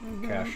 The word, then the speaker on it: cache: But so one thing that the browser can do sometimes is it can cache results. Cash is C A C H E.